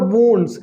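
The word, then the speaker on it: wounds: The farmer tendered to द वुंड्स, इसको हम पढ़ेंगे वुंड्स, अक्सर लोग वाउंड्स कहते हैं, बिल्कुल गलत है ना, इसका ये उच्चारण गलत है, इसको हम पढ़ेंगे वुंड्स, आप नोट कर सकते हैं।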